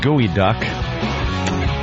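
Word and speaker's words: geoduck: oping Anthony uh pronounced gooey duck species of large a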